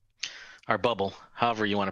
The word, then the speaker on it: Bublé: Or bubble, however you want to pronounce it. Ham and bubbly. Yeah. One of the greatest SNL skits of all time. Oh, yeah. John Hamm and Michael Bubbly. It's Bublé, not anymore.